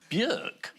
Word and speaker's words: Björk: Björk? Yeah. Well, I worked with Björk and she told me that's how you pronounce my name.